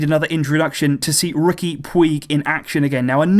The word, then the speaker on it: Puig: it for a while there is a different pronunciation in Catalan on that second name it's Ricky pooch in Catalan but actually for me it's very very difficult to pronounce it like that so I've stuck with Puig I'm trying to ease my